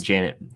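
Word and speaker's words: Jennette: What about Jeanette McCurdy? I hope she does. Janet. See? That's how it's pronounced.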